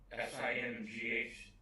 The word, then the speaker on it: Singh: You know, I never liked, I can't pronounce his name, Cindy or whatever his name is. S-I-N-G-H. Singh, Yeah, thank you.